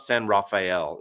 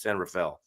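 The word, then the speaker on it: San Rafael: rapael yeah the San it's not San rafhael it's San Rafel but that's okay uh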